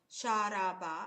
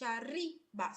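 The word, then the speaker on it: شَرِبَ: itself, from its basic, it's not sharaba, it's shariba. So it's already let's say an odd verb. So it doesn't make part of all the normal verbs that are ta ta ta ta ta ta. It is ta ti ta.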